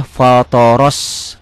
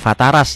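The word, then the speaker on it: فطر: dengan O fthoro ya fthoros fatoros bukan fataras ya ini ya kalau pakai latin akan salah akan bacanya fataras fthorosamawati Wal ini walard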